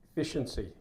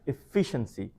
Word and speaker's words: efficiency: Efficiency. So efficiency. Stress দিতে হবে second syllable এর উপরে efficiency. So if you say efficiency, it becomes actually it becomes 5 syllables, but this word has only 4 syllables.